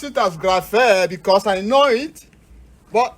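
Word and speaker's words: γραφή: you don't know it, you can transliterate it with the English equivalent of the letters with G, gamma, G, rho, R, alpha, A, phi, phi, as P and H, eta, double E. If you are asked to pronounce this easily, you'll be able to call it what? Graphe.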